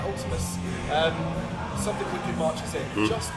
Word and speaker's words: Vltimas: Not V. Pronounce it U. Oh, it's like a Roman U. okay. Vltimas. All right, Ultimus.